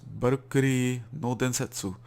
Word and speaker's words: Valkyrie no Densetsu: So what we're looking at here is Valkyrie no Densetsu, or maybe more properly, correctly pronounced Valkyrie no Densetsu, a 1989 action game by Namco, um, starring a female protagonist, the Valkyrie.